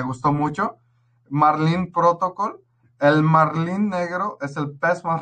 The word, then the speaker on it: Marlin: Marlin, que se pronuncia marlín, es el pez más